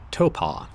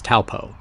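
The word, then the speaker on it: Taupō: We learned that there are two ways to say the name of this area. The Maori pronunciation is Taupo, while the anglicized version is Taupo.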